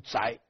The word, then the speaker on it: 狄: 但是这一支的正确读音应该读宅，如果是恒姓狄氏读宅的，不读狄，但是今天都读狄了。